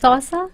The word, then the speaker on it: Xhosa: It's Xhosa. Xhosa. So it's spelled Xhosa. Xhosa. हाँ. X में एक click आता है.